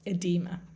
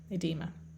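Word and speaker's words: oedema: spell that o e in us english they would just put the e without the o but it's pronounced edema edema and to finish off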